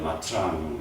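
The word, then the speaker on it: Nha Trang: " 냐 짱 " 을 발음 하는 건 어렵지만 , " 냐 짱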